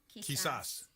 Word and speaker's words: quizás: How do you say that? Quizá? Quizás. Quizás? Quizás. Yeah. Quizás. Maybe.